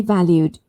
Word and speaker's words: valued: Did you hear valued with a D or valued with a T? Should be valued with a D. Your feedback is highly valued.